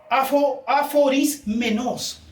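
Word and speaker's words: ἀφωρισμένος: La palabra apartado es una palabra que se pronuncia aforismenos. Aforismenos. Esa es la palabra en griego.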